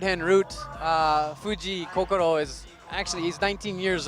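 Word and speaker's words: Fujii Kokoro: two Kor Fuji yeah Fuji Koko is how we pronounce it um which if the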